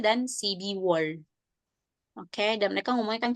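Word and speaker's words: 십이월: Iya, dibacanya Sibirwol. Sibirwol. Kemudian bulan ke-12 Sipiwol. iya, Sibiwol.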